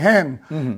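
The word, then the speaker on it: ἕν: Kasi itong mga scholars na ito erasmian ang kanilang pronunciation kaya ang basa nila hen. Yung is ang basa nila his.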